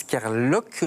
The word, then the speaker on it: Kerloc'h: Maxence Kerlock, je prononce bien. Oui.